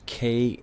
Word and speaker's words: Kadishtu: Kadishtu can be spelled with a Q or a K, but it would be, if K, it's Kadishtu, right? Kadishtu, Kadishtu.